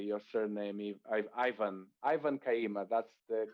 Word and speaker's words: Kayima: welcoming ivan kaima is that i hope i'm pronouncing the name correctly your surname ivan ivan kaima that's the correct that was perfect sales professional